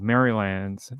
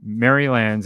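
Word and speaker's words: Merrylands: So, there's a suburb in Sydney called Mrylands and it is spelled differently to that.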